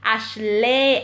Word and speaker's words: Ashleigh: Sunday May 19 Wow Abigail hi how do you pronounce your name - my name is pronounced Ashley and hello my mother